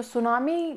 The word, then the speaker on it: tsunami: लेते हैं कि जो सुनामी वर्ड है वो कहाँ से ओरिजिनेट हुआ है। टी साइलेंट रहेगा इसमें, कई बार स्पेलिंग्स में बच्चे मिस्टेक कर देते तो जस्ट सी, टी साइलेंट है।